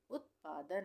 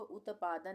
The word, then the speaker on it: उत्पादन: उत्पादन में त का उच्चारण आधा हो रहा है, तो आधा त बनाएंगे हम, उत्पादन। उत्पादन, इसको उत्पादन नहीं पढ़ेंगे, इसको हम पढ़ेंगे उत्पादन। अज्ञानता।